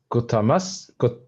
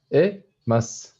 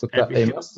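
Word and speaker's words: 答えます: Kotamas, kotamas. One more time. So, So kotaemas. yes, good. You have to pronounce the E. Yes. Kotaemas.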